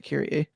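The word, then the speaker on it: Kyrie: it's spelled KY r i e but they pronounced it kir okay it's going to be like I'm going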